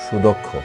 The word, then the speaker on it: সুদক্ষ: যেমন সুদক্ষ, এখানে দয়ের সাথে একটি অ আছে, এরপরে ক্ষীয় আছে, এই জন্য দয়ের অটা ও এর মতো উচ্চারণ হয়েছে।